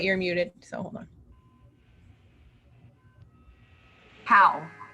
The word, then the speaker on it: Howe: last name wait you're muted so hold on how how proud okay so if you're if you have seen anything you've i'm sure you have seen her nail fees how polished because they're everywhere and they're like the